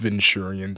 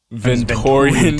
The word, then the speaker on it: Venturian: I can't get over the fact that this guy pronounced Venturion as Victorian tale.